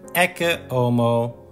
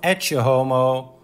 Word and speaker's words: Ecce Homo: first about the pronunciation I am choosing for the Latin pronunciation EO instead of etomo which is more often used in English one of the best